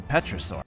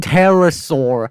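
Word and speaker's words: pterosaur: thought it was a petur pet do you mean terrasaur how do you mispronounce that that's terrasaur not petur how I'm speechless this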